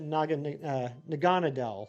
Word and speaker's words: Naganadel: I know it's not right, but I always pronounce it Naganadel, like Adele. Another Blacephalon.